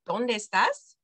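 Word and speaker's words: dónde estás: just asking donde estas you would kind of say it all together as one word donde estas okay segimos all right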